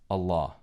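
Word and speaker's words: الله: And when you put el ilah together in the Arabic language, it combines to be pronounced as Allah.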